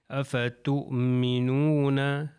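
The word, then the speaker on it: أَفَتُؤْمِنُونَ: Letter سیکھ رہے ہیں یعنی واو کا تلفظ نہیں ہے، اَفَتُؤْمِنُونَ۔ تو یہ آپ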